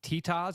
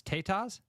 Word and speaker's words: tetas: can't find it now apparently I've been mispronouncing it it's not tias it's tetas Tas oh listen when